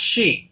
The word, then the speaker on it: Xi: he she it exi is pronounced she president xi of china